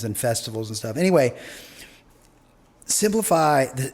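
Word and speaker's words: Cymplify: things with bands and festivals and stuff anyway simplify it's spelled cym cliffi right and the cym is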